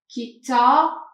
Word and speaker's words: kitab: Then kit, there is Ta, kitab, kitab, kitab, kitab, there is B. For the short vowels, ki, there is short I, short. So this is kasra, short I, it is kasra.